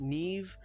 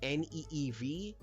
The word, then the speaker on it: Niamh: It's pronounced Neve, like Neev. It is spelled Niamh. It is not pronounced the way it's spelled.